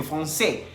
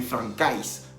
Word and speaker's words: français: La AI en francés se pronuncia E. Entonces, por eso dice Tomás que je suis professeur de français. Y no está diciendo, en ningún momento está diciendo que je suis professeur de francais. Así no se dice.